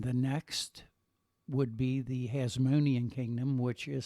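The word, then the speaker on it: Hasmonean: led to the establish establishment of the independent Hasmonian kingdom.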